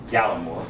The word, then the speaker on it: Gallimore: And so, how do you say last name? Gallimore.